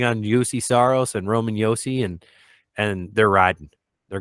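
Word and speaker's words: Juuse: just putting everything on yusi Saros and Roman Yosi and and they're riding they're going yeah you said it right it's it's Yosi and Saros right now and so you know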